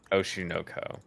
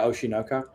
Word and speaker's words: Oshi no Ko: what do you say oh shunoko yeah oshinoka uh I haven't heard anything about you say it together it doesn't sound the same that's why you're saying it wrong that's how Alex would